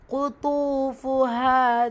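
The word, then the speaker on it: قطوفها: Cuff வல்லின எழுத்து கூடவே தொம்மா வல்லின உச்சரிப்பு கொடுக்கணும். துவாவும் வல்லின எழுத்து தான். ஸோ தொம்மாவில் இருக்குது. ரெண்டையுமே கவனமாக அந்த வல்லின தன்மையை கொடுத்து ஓதுங்க. வாவு மத்தா இருக்குது, 2 ஹரக்கத்தளவு நீட்டம் கொடுக்கணும்.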